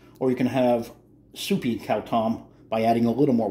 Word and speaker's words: khao tom: out of my house now when you make cow tom you have two choices you can have thick and porgy cow tom which means you don't use as much water or you can have soupy cow tom by adding a little more water k-8 cow